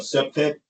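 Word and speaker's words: CPTED: It's uh pronounced septic and once again I'm detective Washington and that's program crime prevention through environmental design.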